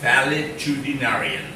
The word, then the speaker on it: valetudinarian: Pronounce correctly. V-A-L-E, valet, D-U-D-I-D, narian, N-A-R-I-A-N, valetudinarian. Okay?